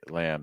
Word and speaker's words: lamb: turn my tongue down the key thing I want you to watch out for lamb is that when you have that a sound like in cat or fast a and when you have that linking with that M it's gonna sound like am am am am am and then we're gonna say lamb so as you get